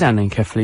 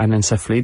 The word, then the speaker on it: anencephaly: it happen yes um this is Anan kefly you're right or Anan SE that's absolutely spot on for pronunciation um this is what